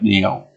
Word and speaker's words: Nail: I only want to pronounce Nail, but Nail. Like fingernail.